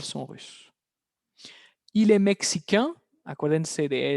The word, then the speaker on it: russes: Il est russe, ils sont russes. Una S más, pero de nuevo la S es muda. Misma pronunciación. Ils sont russes.